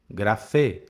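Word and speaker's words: γραφή: Grafê. Acento agudo no final.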